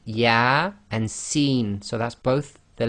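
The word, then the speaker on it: Ya-Sin: So here you cannot say Yasa, it would be Ya and Sin, so that's both the letters, the name of the actual alphabet letters themselves.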